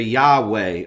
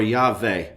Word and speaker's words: Yahweh: And regardless of what vowel points you would add, it would never be pronounced with a J sound. It would probably sound closer to Yahweh or Yahweh, depending on what vowel points are added.